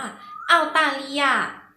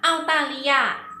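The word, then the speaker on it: 澳大利亚: ว่า อะไร นะ คะ ภาษา จีน ออก เสียง ว่า เอา ตา ลี ยา ฟัง อีก 1 รอบ นะ คะ เอา ตา ริ ยา ไหน คราว นี้ เด็ก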